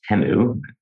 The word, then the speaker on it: Temu: One, I didn't realize it's actually pronounced Temu. I've been saying it wrong for a few years now.